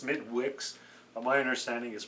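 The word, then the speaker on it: Smithwick's: It's actually pronounced Smidwix, but my understanding is pronounced Smittix.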